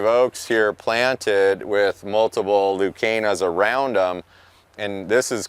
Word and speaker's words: Leucaena: So here's a great example where Leucaena, or some people pronounce it Lucina, is this plant.